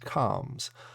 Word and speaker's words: Combz: comms and yes yes every single weekly review I've been saying it wrong is pronounced comms um so what we're